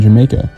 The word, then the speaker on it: Jamaica: As a result, the Y sound was eventually replaced with the J sound, which is how the neighborhood ended up being pronounced Jamaica like the island.